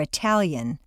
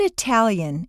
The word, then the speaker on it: Italian: Look at Italian and Italy in the examples below. The tal of Italian is at the top of the staircase and is strong, Italian.